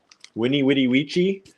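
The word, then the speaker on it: veni, vidi, vici: It's like the opposite of the V pronounced as a W in Latin, right? I was told that I was pronouncing vidi vidi vici all wrong my entire life. What is it? With a W sound.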